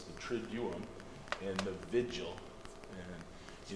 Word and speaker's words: Triduum: That's not actually how they pronounce it. It is Triduum, which means, it's a Latin word.